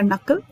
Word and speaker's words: knuckle: Second word है हमारा नकल, और नकल में के साइलेंट है.